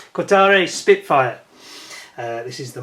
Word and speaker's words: Kotare: and on people's doorsteps it's the kutari which I believe is the correct pronunciation Qatari Spitfire uh this is